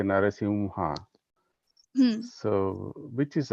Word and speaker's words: Narasimha: So Narasimha is correct. Narsimha or Narsimha. So as you told, it is correct that in south they pronounce Narsimha, or in north they pronounce Narsimha, but both are not correct according to Okay. Panini grammar. It's not Okay. like they are saying something wrong, but it's not correct according to Panini grammar.